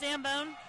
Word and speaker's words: Zambone: Is it pronounced Zambone? Yes, it is.